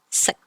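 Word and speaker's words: 食: Finally, IK goes back to being a I sound, so it's like ick from lick. Example, sick, which means to eat.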